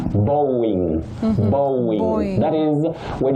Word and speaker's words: Boeing: Now, the last one is about that aerospace company in America, and you say Boeing, Mhm.